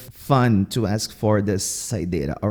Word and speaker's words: saideira: Check out the pronunciation here. Tomar saideira. I'm not going to pronounce this R, okay? Or this R here.